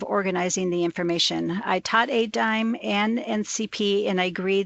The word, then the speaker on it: ADIME: the, do I say, Annie, how did you pronounce it, Adamy? Something like that. Yeah. It's ADIME.